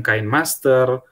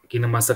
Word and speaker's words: KineMaster: Jadi untuk cara baca aplikasi ini bukan KineMaster, bukan kadang-kala salah penyebutan kok. Kalau dari KineMaster Indonesia bilang ini aplikasi kalau dibaca itu KineMaster. Jadi bukan KineMaster begitu.